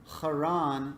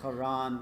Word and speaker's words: Haran: Testament passage we read, did write Haran with CH, which would be more appropriate for the pronunciation because in Hebrew you have what are called guttural letters, which are pronounced with the back of the throat, and we don't have